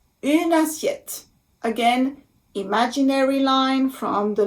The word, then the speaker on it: une assiette: Une assiette. Une assiette. Une assiette. So you see, I also make the liaison here. Because assiette starts with A, the vowel A.